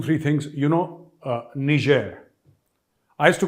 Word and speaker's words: Niger: and gentlemen two three things you know uh Niger I used to call it Niger all my life but apparently it was a French Colony till the 60s and the French pronunciation of n-i-g-e-r is not Niger but Niger so Indonesia you